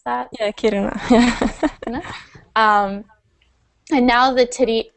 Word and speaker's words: Kiruna: mines underneath the town and she says it's Karuna. Did I pronounce that? Yeah, Kiruna.